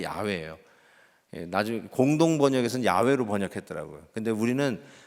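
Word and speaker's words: 야훼: 이렇게 불능 거예요 근데 나중에 보니까 아냐 여호와 가 아냐 야외 에요 그래서 원래 야외 에요 나중에 공동번역 에선 야외로 번역해 떠라 구요 그런데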